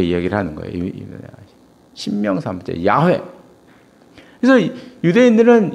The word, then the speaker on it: 야훼: 근데 여호와는 발음이 원래가 발음이 아니고 야훼죠. 야훼.